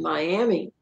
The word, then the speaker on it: Miami: Oklahoma, there was a series of killings in Miami, Oklahoma, and I'm not even sure seems kind of like they pronounce that Miami, but anyway, I call it Miami, Oklahoma.